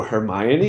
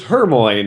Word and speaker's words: Hermione: in that way or oh Hermione is how you say it I always said it as Hermoine or you know you know